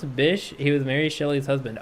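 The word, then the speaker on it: Bysshe: that would be nice that would be nice pronounce Bish he was Mary Shell's husband oh okay okay Percy Bish Shelly I actually don't read it my Discord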